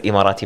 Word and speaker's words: Emirati: what exactly is immorating marshalls and am i pronouncing it right it is imarati marshall's right yes uh actually a minority martial's